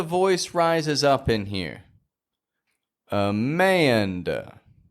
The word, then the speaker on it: Amanda: Just like Daniel, Amanda makes this transition between the A and the N when you pronounce it.